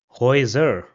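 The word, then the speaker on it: Häuser: So the next combination is a louloud and u and this is pronounced as oi. So for example the word over here will be pronounced as hoer which means houseser or thro which means dreams.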